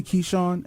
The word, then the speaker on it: Ky'shawn: I've been saying pronounce it that way. You correct me, man. I'm sorry. Yep. So it's it's actually Kon and it's K Y S H A W N.